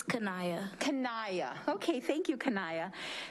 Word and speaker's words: Kenia: to welcome the Superintendent Student Advisory Council representative, Kenia. Did I do okay? Can you help us, please? Sometimes they give it to me how it's pronounced and I didn't have it, please. It's Kanaya.